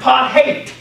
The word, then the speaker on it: apartheid: it said so beautifully, is actually pronounced part-hate.